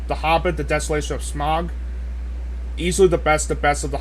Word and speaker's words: Smaug: As for my honorable mentions, I have Star Trek Into Darkness, The Hobbit, The Desolation of Smaug. Easily the best of the Hobbit It's pronounced trilogy.